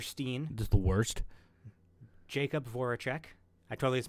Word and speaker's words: Voracek: Jacob Voracek. I totally just mispronounced that last name, didn't No, I? that's No, correct. Voracek, Voracek.